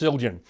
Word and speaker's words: Zildjian: Paul spent his career, he spent about 30 years at Avidus Zildjian. And or Avidus Zildjian, if I want to pronounce it correctly.